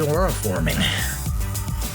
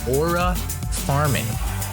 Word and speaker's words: aura farming: What is aura forming? That's not how you pronounce it. What is aura farming?